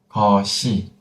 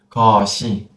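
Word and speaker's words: 것이: Because if you have an empty circle behind, you don't need to close. Because imagine like this. You push the final consonant to the empty space. Then you don't need to cut, you don't need to stop. You can just pronounce the final consonant fully.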